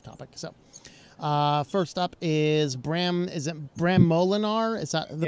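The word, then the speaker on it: Bram Moolenaar: So first up is Bram Molinar? Is that the pronunciation?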